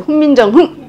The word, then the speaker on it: 훈민정음: 이렇게 훈민정음도 그냥 훈민정음이 아니었어요. 훈민정흠 이렇게 흠 이렇게 조금 이렇게 빨리 딱 끝나는 센 소리였어.